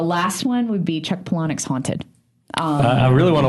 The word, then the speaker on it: Palahniuk: of was so or Palahniuk I'm saying it wrong Paula neck I was Dennis would Americans he said it's two words Paula and neck so it's Paula neck yeah um so Chuck